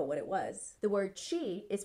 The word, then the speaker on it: chi: didn't even know what it was the word chi is pronounced Chi and it's Chinese for life force